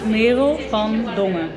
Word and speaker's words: Merel van Dongen: Y ahí decimos Mero van Dongen. Mero van Dongen. Mero van Dongen.